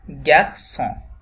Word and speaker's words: garçon: এখানে আমরা ফরাসি ভাষায় দেখব যে সির নিচে একটা সেডি থাকবে, ছোট্ট করে আপনারা দেখতে পাচ্ছেন, এটাকে বলে সেডি। সো এই সেডিটা দেওয়ার কারণ হচ্ছে ওই সিটার উচ্চারণ যেন স থাকে, এটাকে যেন আমরা ক করে না ফেলি বা অন্য কোনো উচ্চারণ না করে ফেলি।